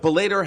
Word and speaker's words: Bellator: But Bellator has numbers as well. Oh yeah, Bellator. Thank you. Yeah, I didn't pronounce it right.